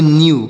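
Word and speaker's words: knew: डब्लू तो के से के का उच्चारण नहीं होगा एन से पढ़ेंगे नौ ई डब्लू से पढ़ेंगे ई डब्लू से यू पढ़ेंगे ई डब्लू से यू तो इसे पढ़ेंगे न्यू क्या पढ़ेंगे इसे न्यू पढ़े और न्यू मतलब क्या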